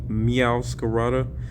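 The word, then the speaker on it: Meowscarada: Yeah, Meow Scarada is how you say it, I believe.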